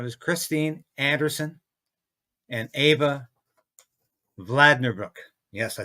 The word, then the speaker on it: Vlaardingerbroek: event and it was Christine Anderson and Ava vlader Brook yes I said her name right she even says people get her name wrong but we had a great event at